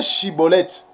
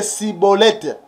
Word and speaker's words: Schibboleth: parce que des éphraimmites ils avaient des difficultés pour prononcer pour prononcer chibolette et il prononçait que cibolette et il prononçait cibolette